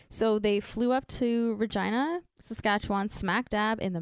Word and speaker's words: Regina: Regina rhymes with fun."